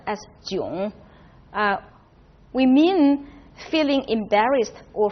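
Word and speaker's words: 囧: now when we use that culture which is pronounced as June we mean feeling embarrassed or frustrated probably the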